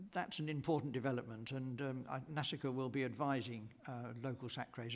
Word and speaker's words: NASACRE: Some people call it Nasacre, and other people call it something else, and I've always called it NASICA, but we're into a diverse universe, a multiple universe here, and I don't think it's going to establish any standard kind of... I think people don't like it kind of rhyming with massacre.